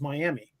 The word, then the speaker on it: Miami: Like we all know that M-I-A-M-I spells Miami. Not in Oklahoma, it's Miami. Don't know why.